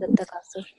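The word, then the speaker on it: At-Takathur: It's a Takathur, right? Yes, it is At-Takasur.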